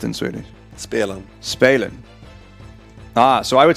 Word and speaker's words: spelen: So it's more of, because in German an IE is pronounced with an E sound and an EI is pronounced with an I.